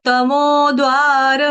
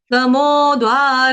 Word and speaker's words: तमोद्वारै: तमोद्वारै स्त्रीभिर्नरः, तमोद्वारै, यहाँ पर देखो, तमो, है ना, तमो, मैं रुक गई ना, द का उच्चारण पूरा नहीं करना है, द का उच्चारण हल्का सा करना है, टच देना है।